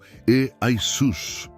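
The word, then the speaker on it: Ἰησοῦς: Então, Yeshua se transformou em Iesous, pronunciado algo como E-Aisus.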